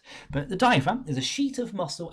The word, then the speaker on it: diaphragm: your ribs called the diaphragm. I know it's got a random silent G in it. When I'm in classroom, I usually tend to pronounce it diaphragm, so you remember how to spell it.